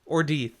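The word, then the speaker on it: Ordeith: teeth or teeth totally or death so we're not going like german on the pronunciation here no okay ah there's no way i could ever say or diet that's ordeath and he wiz uh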